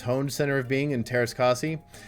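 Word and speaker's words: Teräs Käsi: Center of Being in Terraskasi. Or Terrakasai, or whatever. If you're a Star Wars snob, you might pronounce it like that.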